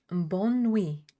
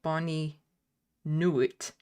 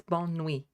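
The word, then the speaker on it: bonne nuit: Bonui, there's a T in there, but it's not pronounced because it's French and you don't pronounce half the letters that you see.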